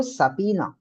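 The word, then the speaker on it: subpoena: ऐसा प्रोनाउंस कैसे करते हैं? Please read the chat. Apina. क्या बोलेंगे इसको? सपीना।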